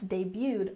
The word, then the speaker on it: debuted: the latest fashion trends debuted on the runway and we have a tricky French word here that's commonly used in American English you don't say the T debuted which means to be